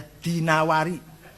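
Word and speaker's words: ad-Dinawari: Wasi IBN quaybah addawari jangan addainuri bacanya ya dinawari Jangan addainuri enggak ada kota dainur ada dinawar dinawar al-asmai enggak ada Asmi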